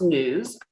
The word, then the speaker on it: NWSS: And yeah, so we established the National Wastewater Surveillance System, or NWSS, which we pronounce NEWS. So you'll hear me refer to it that way, in September of 2020.